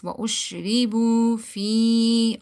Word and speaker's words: وَأُشْرِبُوا فِي: Okay, now ya is silent, before that there is kasra, so we need to stretch it. Fi, not fi. Do not read it like وأشربوا fi. not like this. وَأُشْرِبُوا فِي, okay.